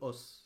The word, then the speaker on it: os: sur 7 o s pluriel de OS c'est juste que ça se prononce o C 7 o c'est